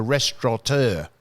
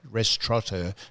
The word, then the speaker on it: restaurateur: I'll give you a classic example as a man a Michelin hat man, who was a restaurateur. Restaurateur, no N in restaurateur.